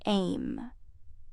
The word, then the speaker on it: EMM: cli book is titled em pronounced in short as aim earth moon mars the